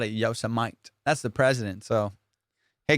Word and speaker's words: Yosemite: He called Yosemite Yosemite. Fool, he was reading it, and he called it Yosemite.